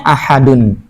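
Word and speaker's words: أَحَدٌ: Tapi kalau dhammahnya dikasih lagi, bacanya ahadun.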